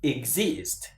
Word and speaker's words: exist: And so the same applies to exist. Exist. Exist. Exist. Exist. Not exist.